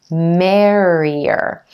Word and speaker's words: merrier: the ER mer mer in our second syllable we have just the e as in green sound and then our final syllable is the ER or just by itself merrier merrier and our emphasis is